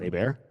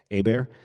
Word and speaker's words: Hebert: My last my name is spelled H E B E R T, but it's pronounced Abear. Abear.